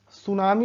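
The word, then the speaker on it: tsunami: जिसे कि जैसे से कि सुनामी बोलते ना तो सुनामी जो है वह टीम से शुरू होता है 3 सुनामी बोलते हैं लेकिन वह सुनामी का स्पेलिंग होता है वह टीम से शुरू होता है बट उसे हम बोलते हैं सुनामी तो यह रहा आपने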